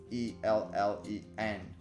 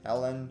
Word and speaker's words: Ellen: kessler but spelled with e-l-l-e-n not with h-e-l so it's not helen it's ellen and alice is with